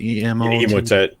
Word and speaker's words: Emotet: How do you pronounce it? Emotet.